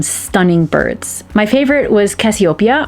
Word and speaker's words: Cassiopeia: birds my favorite was cassiopeia or as her name is pronounced in german cassiopaya if there was a